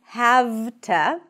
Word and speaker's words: have to: So instead of saying have to, can you guess what sound it turns into? An F.